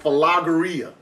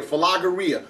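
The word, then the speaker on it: φιλαργυρία: avarest love of money so the word is like it's pronounce something like fageria that's the word used here fageria so fageria is the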